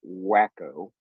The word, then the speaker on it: Waco: A certain person is having a rally in Waco, Texas, and Waco is spelled W-A-C-O. Those of us from Texas call it Wacko.